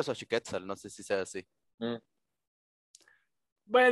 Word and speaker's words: Xochiquétzal: haber recuerdo aparecen para ti en ti vale xochiquétzal es correcto del amor y de las flores muchas gracias siguen sacando ventaja no importa pero ha sacado guau impresionante pero sí que salgo como xochiquétzal es característica bueno ya lo pronunció xochiquétzal nos